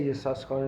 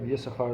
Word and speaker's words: Yissachar: So why does he say Yissaschar instead of Yissachar the way we always pronounce it?